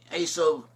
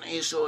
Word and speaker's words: Esau: In Hebrew, modern Hebrew pronunciation, Esau is pronounced as Esau. Esau and Esau are different versions of the same name.